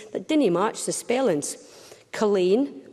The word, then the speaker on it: Culzean: didn't March the spellings Colleen Colleen Castle it's spelled colzine Mingus spelled Menzies cargonian which